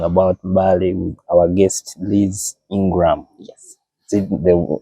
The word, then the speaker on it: Ingram: We are here at Mbale Resort, and we are discussing about Mbale with our guest, Liz INGRAM. Yes. Is it the right way of pronouncing it?